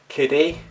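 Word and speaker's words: Kidde: got this is made not quite sure you pronounce this i think it's kitty k-i-d-d-e remind your ears and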